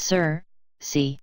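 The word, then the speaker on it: Circe: go on querque although contemporary humans not trained in the classical or modern Greek tended to pronounce her name is Sir C Diana kept this knowledge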